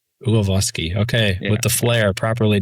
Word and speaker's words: Ulawski: So the the the the dumb down version is Yuloski, but the the Polish um pronunciation is Uvoski. Oh, okay. All right. Yeah. Avoski. Uavoski.